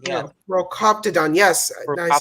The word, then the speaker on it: Procoptodon: Proctodon. Yeah, No, Procoptodon.